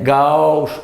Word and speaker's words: gaúcho: E aqui é gaúcho. Não. Gaúcho. Cada vogal pronunciada distintamente.